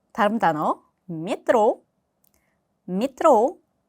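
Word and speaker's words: метро: 자, 다음 단어 메트로 미트로 메트로가 아니라 미드로이 자의 강사가 있기 때문에 앞에 야는이 발음이 납니다.이 알파벳 요는 늘 강세를 가지고 있습니다.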